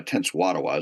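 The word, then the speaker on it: Tenskwatawa: Jacumps's younger brother uh Tense Watawa is the way I pronounce his name what it what it became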